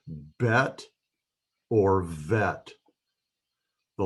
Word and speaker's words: Vet: So the pronunciation of the vet is just kind of a softer form of the B. It's V instead of B. Without the dagesh, it is pronounced V as in vine, V.